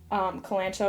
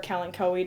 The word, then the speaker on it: Kalanchoe: Strawberry begonia, very similarly to Kalanchoe or Kalanchoe, depending on how you say it, it just goes.